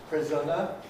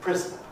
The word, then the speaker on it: prisoner: We start off with schwa N, prisoner, we get syllabic N, prisoner, and we get non-syllabic N, prisoner. And that's actually the most usual pronunciation of this word, prisoner.